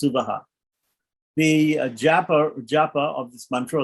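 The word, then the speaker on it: सुवः: The Japa, and specifically it's pronounced Suvaha, in other branches of the Veda, even other Shukla Yajurveda or Rig Veda, the third Vyahriti is pronounced Sva and not Suvaha. But in Krishna Yajurveda, it's pronounced Suvaha.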